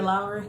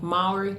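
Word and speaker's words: Mowry: Tia Lowry? No, Maury.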